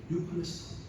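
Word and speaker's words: εὔχρηστον: EU. 이 발음을 U라고 하는데 유클레스톤.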